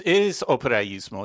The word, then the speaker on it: operaismo: This is operaismo, if I'm pronouncing it correctly. It is operaismo, yes.